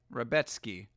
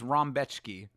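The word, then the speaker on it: Rebecki: They're saying his name is pronounced Retski. All right. Well, I thought it was Rambki.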